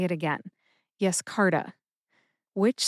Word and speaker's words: Yescarta: However, no emphasis is indicated in the literature for Yescarta, but I personally tend to emphasize that middle syllable, car. See if you can hear that emphasis when I say it again. Yescarta. Yescarta.